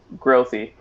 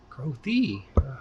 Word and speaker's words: Grothe: name by the way growthy growthy yeah it's just like a you just pronounce pronounce it instead of it being silent right right yeah that's